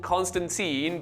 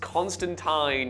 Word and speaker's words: Constantine: Just to be clear, the movie is called Constantine, but it's pronounced Constantine in the comics.